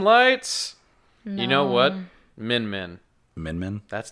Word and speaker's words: Min Min: Min Min. Min Min? That's not hard to say. Certainly not spelled like, Is it like Min, M-I-N, or M-E-N?